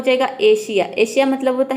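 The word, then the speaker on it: Asia: करते हैं, तो देखिए किसी भी वर्ड में एस के बाद आई ए या फिर ION आ जाता है तो वहाँ पे एस को हम श प्रोनाउंस करते हैं, श। जैसे कि एशिया, यहाँ पे देखिए ए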